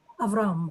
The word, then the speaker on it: Avram: name, and the pronunciation is going to hit that last syllable hard. Avram.